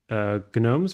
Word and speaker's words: GNOME: Since GNU is GNOME's first name, GNOME is officially pronounced GNOME.